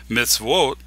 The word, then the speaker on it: Mitzvot: Mitzvot, meaning commandment, here the wa is at the beginning of a syllable, so it is a consonant.